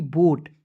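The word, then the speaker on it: boat: अब देखेंगे दोस्तों दो वोवेल जब एक साथ रहते हैं दोस्तों एक वोवेल का उच्चारण नहीं करते हैं। ठीक है? ओ से ओ लिख देंगे। क्या हो जाएगा? बी ओ ए टी बोट।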